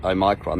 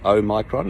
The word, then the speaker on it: omicron: both know this uh oh micron that's how you say it i know you don't know how to say it so let me help you oh micron you know it's greek letter of the alphabet the watch is omega